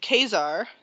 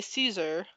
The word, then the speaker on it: Caesar: Um and Khazar, which a lot of people say Caesar because that's how it's spelled, but in the game they actually say Khazar.